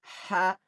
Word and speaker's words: ح: Ha is a throat letter. Pronounce it from the middle part of the throat cleanly. Ha.